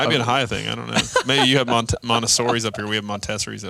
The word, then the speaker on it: Montessori: No, it's Montessori.